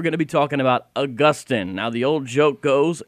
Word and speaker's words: Augustine: We're going to be talking about Augustine. Now, the old joke goes, and I personally abide by it, that Saint Augustine is in Florida and Saint Augustine is in heaven.